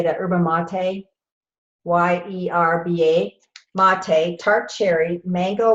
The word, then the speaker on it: yerba mate: Yerba mate, Y-E-R-B-A, mate, tart cherry, mango, guava, lemon peel, and beetroot.